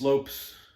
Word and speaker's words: Lopes: It's Lopes. Lopes is how you pronounce it.